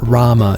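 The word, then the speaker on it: Ramuh: us to find Rama they do pronounce it Rama in this so we call Rama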